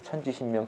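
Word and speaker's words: 천신지명: 천지 신명이라고 읽는 부르는데요. 사실은 이제 천신 지명인데 천지 신명이라고 부르죠. 천지신명 천지신명 그건 하나님입니다.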